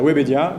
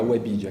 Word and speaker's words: Webedia: um convidado, e ele aceitou, Cyril Reboul, da Webedia, que vai nos contar um pouco da experiência dele no Brasil. Aqui a gente fala Webedia aqui no Brasil.